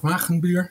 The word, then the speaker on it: Wagenbuur: Well, my name is Wagenbuur. That's how you pronounce it.